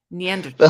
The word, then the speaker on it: Neanderthal: but Harland was right the H in Neanderthal is silent Neanderthal that's amazing neander but